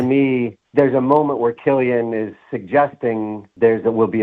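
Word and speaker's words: Cillian: Because there's a part where Killian, right?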